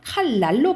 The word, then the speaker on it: 칼날: 우리가 이거를 어떻게 발음하냐면 칼날로 발음하거든요. 칼날로 발음해.